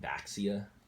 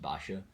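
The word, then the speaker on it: Baxia: of the Yang's in a lot of people pronounce it back sia but it's actually suppose it's a chinese name so from supposed to be pronounced Basha basically you have to have this car 23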